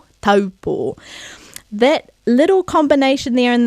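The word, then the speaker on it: Taupō: destination, often mispronounced as Taupo. But we don't want to say Taupo because now we know the a sounds like a, ta, and the u, and the o, Taupo.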